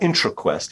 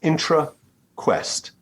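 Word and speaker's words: IntraQuest: other key thing is it's two words it's not intro Quest it's intra Quest and it stars some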